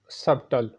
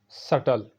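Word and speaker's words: subtle: Next word है सबटल, जो कि गलत पढ़ा जाता है। सही है सटल, सटल।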